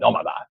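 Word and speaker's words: Nómada: From craft cocktails at Cowan's Public to the vibrant Mexican flavors of their newest venture, Nomada, which would be the way you pronounce it in Spanish, Nomada. Probably people say Nomada.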